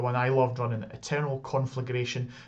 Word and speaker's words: Conflagration: I loved running, Eternal Conflagration. It's also the one that everyone loves to get saying it wrong as well. So many times I hear it conflagration. Conflagration. Yes. Conflagration. Yes. Roll those R's.